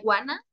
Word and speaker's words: wanna: como la palabra I wanna? I wanna. Suena como la palabra iguana, el animalito iguana.